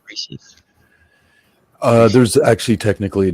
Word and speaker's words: Reese's: Yeah, I think it's pronounced Reesei, right? Reese's. No, Reese's.